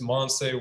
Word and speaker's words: Monseé: Yeah, it's Monseé World. It's a M-O-N-S-E-E. It's spelled S-E-E, but it's pronounced Say.